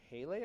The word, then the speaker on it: Pele: worship on the island named Pele I think is how you pronounce her name Peli Pele Pele uh